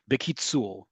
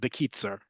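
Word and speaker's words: בקיצור: time in modern Hebrew, bekitzul. Bekitzul, or you'll hear it's pronounced bekitzer, right? You really will hear it sounded like bekitzer, like it's almost mimicking a English accent, right?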